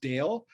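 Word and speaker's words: Dalle: is brody i believe her last name is pronounced dale um i think at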